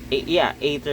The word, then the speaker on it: Aether: Aether is the correct pronunciation of that, I guess.